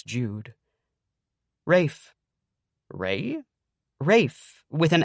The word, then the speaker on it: Rafe: Rafe. Ray. Rafe with an F. Rafe. Can I call him Ray? Why would you want to call him Ray? Rafe is already one syllable.